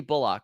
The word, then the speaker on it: Bullock: It's Reggie Bullock. It's not Bullock.